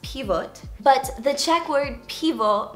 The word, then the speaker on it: Pivot: European Champion as well so in Czech it's pronounced pivote but the cck word pivo means beer is